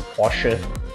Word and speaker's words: Porsche: So most people actually pronounce as Porsche, the common thing, but actually the proper way to pronounce it is Porsche. So it's Porsche with a sh at the back there.